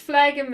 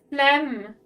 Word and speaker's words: diaphragm: I always felt like it sounded weird, but it's called diaphragm. Kick the mods. Blend base. Diaphragm. Redeemed mod hate. It's like salmon all over again. Diaphragm. Okay. And it's not pronounced phlegm, it's pronounced phlegm.